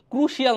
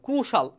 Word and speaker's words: crucial: play a ক্রুশিয়াল না, কিন্তু ক্রুশাল আইটা উচ্চারণ হবে না, ক্রুশাল রোল ইন অ্যাডভান্সিং